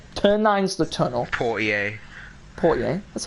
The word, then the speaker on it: Portier: Portier.